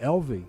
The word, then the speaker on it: Elvie: I think Elvie Elvie he say he pronounces it Elvie Elvie okay very nice guy